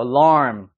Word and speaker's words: alarm: 핸드폰이 알람 많이 맞추는데 이것도 읽을 때 여기에 강세가 적용이 돼 있고 얘는 휴화 발음이 되기 때문에 어떻게 읽어야 될까요 이것도 알람이 아니죠 아이 되는 거예요 alarm 앞에 빨리 지나가는 거야 alarm 이해됐어요 alarm 해 보세요 한번 alarm 쉬운 발음은 아니야 그지 자 이거 같은